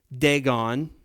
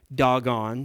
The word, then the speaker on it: Dagon: You know, gods like Dagon, as some pronounce it. I told you in Hebrew it's actually pronounced doggone.